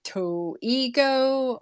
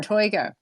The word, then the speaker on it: Toigo: of the first actually most people are like to Ego or like just cannot pronounce it but you got it toigo that is awesome you